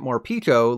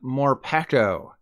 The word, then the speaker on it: Morpeko: It's a Pikachu clone, so I'm only ever calling it Morpeko, like let me peek at your binder. And also, Morpeko sounds so much better than, Morpeko.